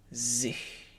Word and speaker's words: sich: If you make an H sound with your high tongue, h, it makes it narrower. Sich.